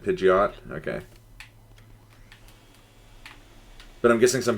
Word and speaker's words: Pidgeot: how do people pronounce Pidgeot because to me it's always just been idiot but with a p scula yeah yeah same